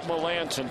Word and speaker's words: Melancon: It's a very odd pronunciation for the way it's spelled. I botched that one. Well, you and me both. I mean, it is a very odd pronunciation, but it is Melancon.